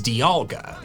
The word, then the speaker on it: Dialga: The official pronunciation is dialga. Dialga. I think we could debate this one. Dialga does make some sense, since its counterpart's name is Palkia, and thus you'd be pronouncing the IA the same way.